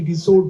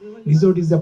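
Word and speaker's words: resort: চারবারই শুদ্ধ উচ্চারণ করেছে আমরা ভুল করে ছুটি রিসোর্ট বলি আসলে রিজোর্ট পারফেক্ট ওয়ার্ড স ওরা অনেক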